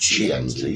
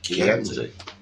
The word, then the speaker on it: Chianti: It's not pronounced Chianti, it's pronounced Chianti.